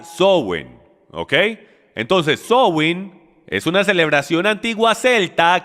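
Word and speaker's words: Samhain: comienza con una festividad de origen Celta llamada zowin se pronuncia software OK entonces zowing es una celebración antigua Celta que viene de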